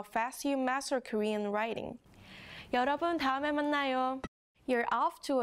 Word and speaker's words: 여: 여, This sound has a lot in common with the last character's sound, doesn't it? The only difference is the Y sound in Ya.